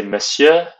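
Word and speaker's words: Monsieur: in that department for Mister you would say Messiah note that in Messiah the N is not pronounced pronounced and miss you could say madam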